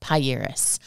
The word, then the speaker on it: Pieris: the name of this shrub is pronounced pairis that derives from the Greek word priorities the